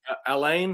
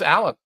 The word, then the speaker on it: Alan: Is it But Alan or Alain? How do I pronounce it? it's just Alan.